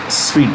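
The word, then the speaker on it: suite: of the sweets sweet the spelling is this sweet it's pronounced sweet okay so she died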